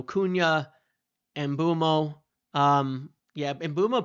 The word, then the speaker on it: Mbeumo: Um, yeah, Embumo pronounced it this way. I used to pronounce it a different way and he I watched him pronounce it to learn how to do it.